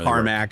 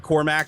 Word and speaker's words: Cormac: depends on where show me the carac no carmac I mean if you had an accent they'd come after you for that too oh is he British it's it's spelled Cormac so I say Cormac I mean Cormac but